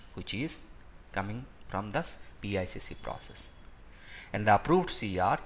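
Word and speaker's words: PICC: change control or the process of pic p icc pronounced as pic this process reviews all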